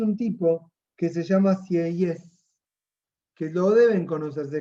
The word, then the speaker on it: Sieyès: Aparece un tipo que se llama Sieyès, que lo deben conocer, se escribe S-I-E-Y-E-S, pero la segunda E es con acento aigu, que sería para el otro lado.